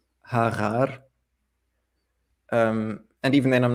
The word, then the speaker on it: Hagar: So if you have the name Hagar, for example, instead of saying Hagar, I say Harar.